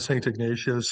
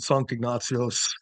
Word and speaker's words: Sankt Ignatios: I mean, yeah, lots of people pronounce it Saint Ignatius. The Swedes pronounce it Sankt Ignatios, Okay.